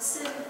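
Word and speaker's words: שׂין: So you see how it's exactly the same, and it's pronounced sin as opposed to shin.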